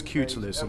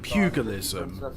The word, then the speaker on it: pugilism: boxing was called cutilism, because I only ever heard Chris Eubank pronounce it as cutilism when it's about pugilism.